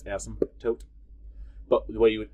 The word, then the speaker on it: asymptote: have is called an asymptote again that's pronounced without the p that p is silent in that word um it's asim asym tote asymptote sometimes i'll i'll say